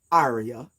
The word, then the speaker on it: Arya: a minute hi yes my name is Arya that is how you pronounce it thank you for pronouncing